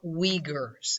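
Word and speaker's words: Uyghur: the chinese han and the muslim we Gers is how they're pronounced now one of the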